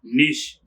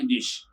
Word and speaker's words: niche: to say to the soviet the word is niche i love teaching english pronunciation and i can confidently say that i have finally found my niche i love teaching english pronunciation and i can